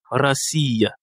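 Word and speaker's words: Россия: Ici l'accent tonique est sur le I et il y a trois voyelles donc trois syllabes ra siia. Il faut faire attention au niveau de sia racia.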